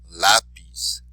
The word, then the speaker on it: lápiz: So even though it ends in a vowel, we're not going to say the second to last syllable. We're going to do it where the exception to the rule is.